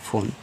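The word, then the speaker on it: phone: देखो इसको फोन पढ़ते हैं।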